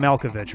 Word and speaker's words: Malkovich: Adam Malkovich, right?